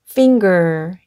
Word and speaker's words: finger: F 는 "f", I 는 "i" 이고 , 앞서 말 했듯이 여기 의 N 은 " ng" 처럼 발음 됩니다 . 그리고 G 도 발음 해야 해 요 . G 는 "g" 입니다 . 그리고 ER 이 합쳐져서 "er" 소리 가 나므로 "finger" 라고 발음 합니다 . "finger" 는 손가락 이나 발가락 을 의미 합니다 . 여기 서 NG 는 "ng-g" 로 발음 되었습니다 .